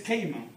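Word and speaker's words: kerygma: Es la palabra usada en este versículo, es keima. Se refiere al mensaje que incluye la obra redentora de Cristo. Keima, se escribe K-E-R-Y-G-M-A.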